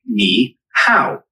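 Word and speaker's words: 你好: Ni hao is pretty straightforward to pronounce. It sounds like ni hao. Just make sure to keep the ni part high and then go down and pitch on the hao.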